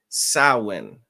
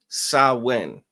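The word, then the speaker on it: Samhain: celebrate is called um it's spelled s a m h a i n but it's pronounced sawin all right sawin and I guess that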